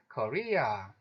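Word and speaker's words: Korea: 한국 같은 경우에는 코어가 아니고 뒷부분에 강세를 받아요. 그래서 국제대회에서 우리나라 소개할 때 항상 코리아 이렇게 발음이 되고요.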